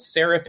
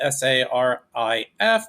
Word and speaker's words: Sarif: Adam Jensen works for a company called Sarif Industries. It's spelled S A R I F, but when you say it out loud, you could hear S E R A P H.